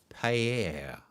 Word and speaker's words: paella: So, Joodle says, beautifully pronounced. Paella.